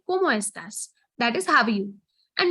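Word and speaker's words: cómo estás: all i'm doing is i'm pronouncing each and every letter that is there and the way it goes and not eating up any letters so it is como estas como estas right that makes your pronunciations way more easier once you start pronouncing everything as it goes como estas so como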